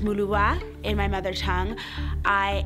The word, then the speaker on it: Muluba: My name is Maluba, pronounced Muluwa in my mother tongue.